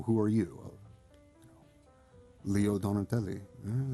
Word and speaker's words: Donatelle: have some documents in Armenia that it's spelled just LL with nothing. Oh, God. Because I said Donatel. And they didn't, And then my sisters, trying to go back to the Italian roots, were pronouncing it Donatelli again.